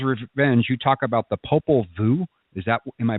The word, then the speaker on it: Popol Vuh: But in Lucifer's Revenge, you talk about the Popol Vuh. Am I pronouncing that correct? Yeah, Popol Vuh.